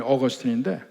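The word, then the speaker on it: Augustine: 그러니까 영어식으로 발음하면 어거스틴인데, 이 사람은 어머니 모니카가 정말 독실한 그리스도인이었고 모니카의 사랑을 받았습니다.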